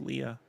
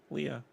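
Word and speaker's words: Leia: to uh remind you jason that um it's pronounced prince princess leah watch the documentary from disney it's official now so i said it myself leah it's like thompson yeah what does this have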